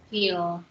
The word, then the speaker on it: viel: Feel. So that is feel. That is not wheel, that is feel, because V has first sound.